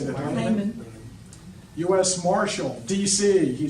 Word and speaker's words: Lamon: Ward Lamon, or how do you say that? Layman.